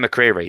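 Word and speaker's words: Bear McCreary: Because like Ben McCreary is the guy who did the soundtrack, and that's how you say his name.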